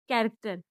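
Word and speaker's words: character: अगला है सी एच ए आर ए सी टी ई आर कैरेक्टर।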